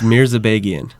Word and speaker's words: Mirzabegian: Please pronounce it. It's Mirzabegian.